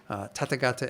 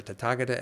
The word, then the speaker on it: tathagata: the basic program this course is usually called tathagata essence or tataka de essence there's different ways of pronouncing the sanskrit word which is essentially referring